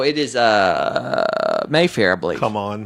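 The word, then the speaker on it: CMON: cool many or not so it's a hard C so it should be come on not C Mon yeah heart see all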